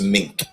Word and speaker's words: Meeink: here's the fine thing you pronounce my last name as every man will say you pronounce it like the animal and every woman will say you pronounce it like the coat it's just mink so but every time